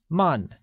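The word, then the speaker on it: 慢: same slow translates as man which is pronounced using a falling tone once again it is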